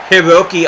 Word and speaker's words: Hiroki: Hiroki Abe. I added an extra syllable before. I thought his first name was Hiroyuki.